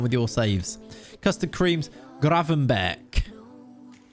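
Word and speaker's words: Gravenberch: your saves custard creams graven beck it's a dutch g at the end though um yeah graven not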